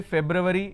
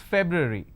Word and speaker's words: February: sound so it's January it's not February don't say February it's it's February all right I'm going